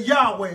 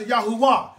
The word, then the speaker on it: Yahuwah: his name is yahuwah some folks say yahweh or yahuwah i pronounced yahuwah his name was not